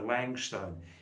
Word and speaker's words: Langstone: Onol Pat, yeah, you can call me Langstone. L-A-N-G. L-A-N-G. He told me once that in the Scottish language, the language of Scotland, lang means long, but I'm not sure. Langstone, L-A-N-G.